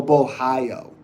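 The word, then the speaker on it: Borralho: Bo high on Portuguese. Oh, okay. Oh, Bohio. Wait. Bohio? Oh, it's Caio Bohio? Ah. That's how that is.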